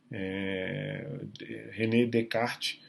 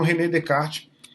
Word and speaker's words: René Descartes: René Descartes, essa é a pronúncia sem a pronúncia desse S e desse S, porque é francês, né?